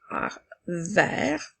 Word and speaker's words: vert: suivi de deux consonnes il fait le son et vert comme dans la phrase j'ai vu un camion vert passé devant la maison la lettre T est une lettre muette qui nous permettra d'écrire